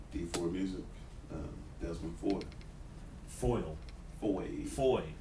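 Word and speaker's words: Fahie: Foy. F-A-H-I-E. However, phonetically, it is spelled F-O-Y.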